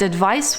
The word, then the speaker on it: advice: Notice how you pronounce advise with a Z sound and advice with a S sound.